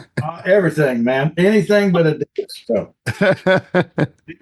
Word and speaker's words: Adias: He didn't understand how to say it Adidas cuz I just went by Adidas up there and he called me Adidius and all kind of different stuff, so.